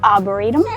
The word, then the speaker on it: Arboretum: Is that how you pronounce it? Yep, Arboretum.